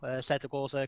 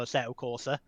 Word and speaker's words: Assetto Corsa: I'm playing right now assetto corsa competition II gotta say it like an Italian I think that is correct I don't have enough arte to properly nail the Italian so yeah primarily